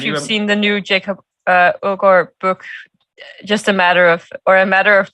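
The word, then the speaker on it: Aagaard: How do you pronounce it once again? Ogor. Oh, we would say agar in Spain.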